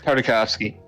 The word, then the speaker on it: Tartakovsky: It doesn't have Genny Tartakovsky. His last name is so fucking hard to pronounce. Andy Tartakovsky. Thank you, Nick. Tartakovsky.